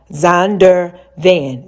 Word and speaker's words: Zondervan: Z-O-N, like Zon, D-E-R, Zonder Van, V-A-N. Z-O-N-D-E-R-V-A-N, Zondervan.